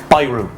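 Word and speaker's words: ビール: It's Byru. Very similar, very zero. Ah, Jesus, Jono, do you have a Byru?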